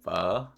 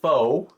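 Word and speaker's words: phở: So pho, for anyone who's familiar with Vietnamese cuisine, pho, and that's how you pronounce it, pho, not pho.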